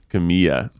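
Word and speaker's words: Camila: Camilla. What is Camilla. You pronounce the L, guys. Camilla. No, it's Spanish. It's Camilla. But it's one L. Oh no, Bella. that's only if it's 2 L's.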